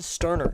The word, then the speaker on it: Sterner: It's going to be Justin Sterner. Not Justin Turner, the pitcher. It's Sterner, spelled with an S.